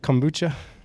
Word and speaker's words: kombucha: And so part of what I think, now I'm going to mess it up, kombucha. Yeah, kombucha.